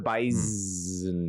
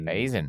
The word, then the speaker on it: Bison: Why was there a Z in Bison? That's how they say it. The Bison. Bison. They get if you say the Bison, they get mad.